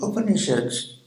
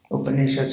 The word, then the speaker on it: Upanishads: there are new people upanishads has three syllables means to sit close